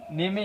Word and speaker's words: name: NAME, নেমে আমি কি বলি? নেমে, তা এটা হচ্ছে নেম। সো এটা ইটা কী হলো না, উচ্চারণ হলো না, বোঝা গেল?